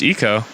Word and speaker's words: Eco: I'm pretty sure it's Eco. It is. Ico. I thought it was Ico first too. Yeah, I'm sure you guys. Well, because it's not how Eco is spelled in Jack and Daxter, so we all might have been thrown off by that, I think.